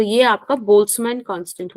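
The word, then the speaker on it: Boltzmann: है तो यह आपका बोल्स मन कांस्टेंट हो गया एकली हम बोमन बोलते हैं बट एक्चुअली इसका प्र बोल्स मान है बट ठीक है बट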